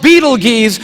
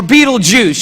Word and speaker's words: Betelgeuse: It's called Betelgeuse or Betelgeuse. You can pick your pronunciation. I'm obviously going with Betelgeuse, and Betelgeuse is incredible.